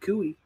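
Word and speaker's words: Koe: And Cooey, that apparently is spelled K-O-E. K-O-E, Cooey.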